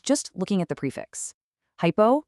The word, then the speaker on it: hypo: Hypo rhymes with low, meaning these fluids have a lower osmalerity or a lower concentration than your actual blood.